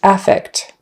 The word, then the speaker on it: affect: so the noun is affect this isn't used very often but just remember if you pronounce it with the stress on the first syllable affect it means a